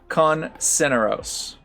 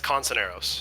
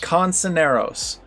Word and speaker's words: Consoneros: It is Con Ceneros. Is that almost? Pretty close. Pretty close. What is it again? It's Consoneros. Consoneros. That's how you pronounce it.